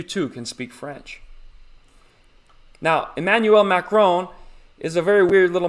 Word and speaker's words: Emmanuel Macron: the president of France, Emmanuel Macron. You have to say it like that. If you're speaking French, you want to show respect, so you got to build up the phlegm. Emmanuel Macron.